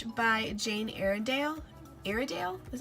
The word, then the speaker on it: Iredale: this fan brush by Jane Eyre and Dale iredale is how you say it IRA do you